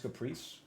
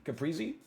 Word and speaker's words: Caprese: that's there for children it's not pronounced Caprice how is it pronounced Capri Z caprese caprese caprese caprese hey can I